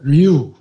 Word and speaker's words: Ryu: Ryu, but R is silent, so Ryu. Okay, we wrote R-Y-U, but we pronounce U.